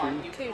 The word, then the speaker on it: Cu Chi: Is it Choo Choo or Choo Choo? Choo Choo. I've been saying it wrong all day.